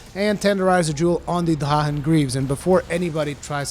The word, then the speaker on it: Drachen: in a weird way, this is the proper way to pronounce Drachen. It is a German word, and therefore I try to pronounce things correctly.